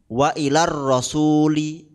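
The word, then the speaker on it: وإلى الرسول: juga dianggap tidak ada contohnya apa wa ilar rasuli itu kan awalnya wa Ila dengan arrasul Ila madnya dianggap tidak ada ng minhumas sudusu asalnya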